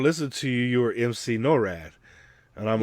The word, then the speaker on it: MC Norad: and Duran's Wave video, and he called me Mick NORAD. I'm like, dog, it's MC NORAD. Mick So NORAD. everybody kept saying Mick NORAD.